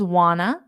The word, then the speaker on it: want to: doya do you doya now want to becomes wna do you wna do